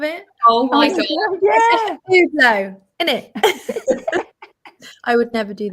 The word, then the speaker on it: Hublot: And then he was like, so first of all, you do not pronounce the H in Hublot.